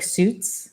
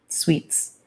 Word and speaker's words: Suits: His name is pronounced, it looks like Suits. It's Suits, but I assume it's French, so that's how you pronounce it. Sweets.